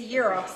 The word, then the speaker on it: gyros: I don't call it a gyro. That's Sayan calls it. It's a gyros. I always thought a gyro was the spinning thing. No, because Greeks pronounce a G as a Y.